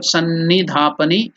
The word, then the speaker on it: Sannidhapani: Sannidhapani. S-A-N-N-I. Sannidhapani. D-H-A. Tha. Pani. The E is elongated.